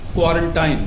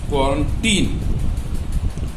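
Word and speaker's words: quarantine: और आजकल इसमें कोरोना वायरस के जमाने में सबसे ज्यादा यूज होने वाला गलत word क्वारंटाइन, that is नॉट क्वारंटाइन, that is क्वारंटीन।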